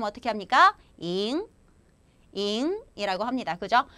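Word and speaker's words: 赢: 발음 어떻게 합니까? 잉이라고 합니다.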